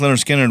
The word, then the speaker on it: Lynyrd Skynyrd: with appetite for construction the um pronounced Leonard Skinner was the like that was